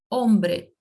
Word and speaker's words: hombre: A letra H, letra H, ela não tem som, certo? Não tem som em espanhol. Então, ela não é pronunciada. Por exemplo, na palavra hombre, hombre.